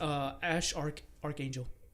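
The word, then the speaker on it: X Æ A-Xii: I know how to pronounce his name now. Oh. It's Ash Archangel.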